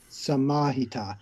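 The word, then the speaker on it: samāhita: Sampajana, samahita. Yeah, okay, so the rule there for stress if there's a long vowel, then I just stress the long vowel.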